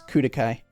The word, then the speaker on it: Klukai: and tactical That sounded like a Japanese, like the Japanese R and L mix, Kudokai. Kudokai, yeah.